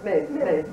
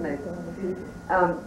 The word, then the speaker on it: Myss: Carolyn Myss ~ I recently saw her and I just think that this is such a great story.( "Maze", yeah it looks like Myss, but it's pronounced "Maze".)